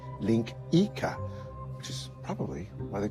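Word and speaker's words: linguiça: It's spelled linguica, but it's pronounced linkica, which is probably why they call sausages links, now that I think of it.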